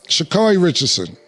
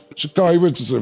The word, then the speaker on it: Sha'Carri Richardson: So, Sha'Carri Richardson, if I'm pronouncing her name right. Yo, Nick, I'm pronouncing her name right? The runner? Sha'Carri Richardson, right?